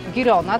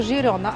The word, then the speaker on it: Girona: pięknie tutaj mała poprawka bo my tak po polsku sobie wymawiamy tą nazwę czyli Girona tak jak się to pisze A w języku katalońskim wymaga się to Girona albo Girona a w języku hiszpańskim